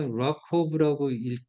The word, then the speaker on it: RWKV: RWKV는 Receptance Weighted Key Value에서 RWKV인데 얘를 갖다가 락커브라고 읽어주세요 하고 이제 저자들은 이야기를 했어요.